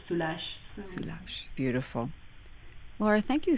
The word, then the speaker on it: Soulages: Yes, in English it sounds soul ages, um but it's pronunciation is French, it's Soulages.